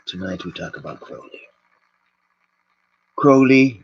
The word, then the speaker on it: Crowley: who talked about Chloe Crowley rhymes with homie Meester actually cause monsters